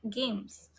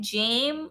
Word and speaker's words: game: Everyone like games. So what about how how do you pronounce game? Do you pronounce it jame or do you pronounce it like uh gum?